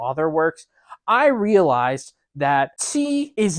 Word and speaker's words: qi: The correct Chinese pronunciation is qi. It is the Q sound, I know, is fucky in Chinese, but it's like try to find like a middle ground between like the TS, like tss, and tsunami or tsundere.